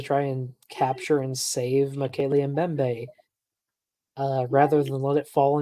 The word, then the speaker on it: Mokele Mbembe: Oh, Big Bad Mama knows about Mokele Membe. I can't even pronounce it. Membe. Mokele Mbembe.